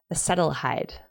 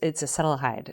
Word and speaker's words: acetaldehyde: So alcohol in the process of metabolism in the body, it produces acetaldehyde. I'm pronouncing that wrong for sure. So some of your medical people can correct me in their minds. But it's acetaldehyde.